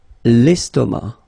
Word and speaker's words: estomac: L'estomac, okay, same thing here, final C not pronounced, and then M means that this word, estomac, is masculine, okay?